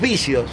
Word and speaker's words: Bissio: Los vicios. ¿Cómo es mi apellido? Sí, con sí. B larga y S. Exacto. Los otros son con B corta y C. Pero la pronunciación es exactamente lo mismo.